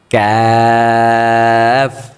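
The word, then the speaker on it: ك: কফ, তারপর ক্যাফ, ক্যাফ, এটা মুখ থেকে হবে, গলা থেকে না।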